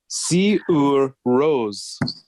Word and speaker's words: Sigur Rós: that I was calling Sigur Rós. go on. Apparently, according to The Guardian, Sigur Rós. Rose. Sigur Rós. All right. Disappointing. Well, that's not, so that we can call this guy Sigur Rós.